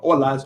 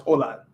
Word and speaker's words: hola: my pencil is so the H for the most part is always silent unless it's like next to a c like chocolate but it's not like uh it's not like a regular H sound in in English if that makes sense chocolate but like you know holas hola it's not hola so I will help